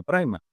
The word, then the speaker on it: Primal: de Primal, o se escribe Primal, se pronuncia Primal, porque el creador decidió también incluir a su otro personaje Ajá.